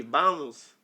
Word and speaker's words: vamos: Nah, his V sounds like a B. Butchered it, Amir. Yeah, no. Sounds like a B. Vamos.